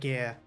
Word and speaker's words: Aegir: It feels really weird pronouncing it Aegir, but that's what they officially call it in the voice line. Back to Aegir, huh?